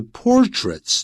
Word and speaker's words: portraits: 不衰的经典的这些 portraits 注意到它的发音怎么念呢？